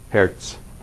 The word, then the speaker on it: Herz: the same thing and in German it's actually spelled not hers but Herz so Z is always like a t s sound like that right that's crazy and